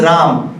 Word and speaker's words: Ram: then hindi is formed hindi as a language doesn't encourage the pronunciation of the last akshara so it becomes ram so there it is